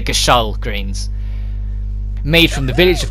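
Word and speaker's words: Gysahl Greens: play our pronounce it took me a long time to learn that I call them get your greens for a long time but now they're Gasol greens made from the village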